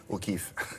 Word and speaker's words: O'Keeffe: Keeffe, ça s'écrit K-2-E-2-F-E. O'Keeffe.